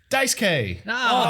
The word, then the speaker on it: Daisuke: They skipped the U.